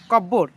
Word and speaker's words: cupboard: writing skill 90 number which letter in the word cupboard is not pronounced जी कहबा option number P cupboard तो पी इठी silent हो जाउची कहबा को लेटर